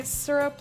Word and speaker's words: syrup: tree blood trees syrup i'm halfway between seer and sir sea rip i say syrup like licta does okay syrup i say syrup like stir up without the tea yeah and this one's